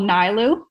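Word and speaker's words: Nilu: It's called Nailu. Okay. How do you spell it?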